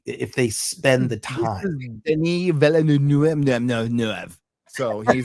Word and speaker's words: Denis Villeneuve: Denis Villeneuve. So he's not wrapping up anything quick. All right. Yeah, it'll be slow. That's the actual proper pronunciation of his name.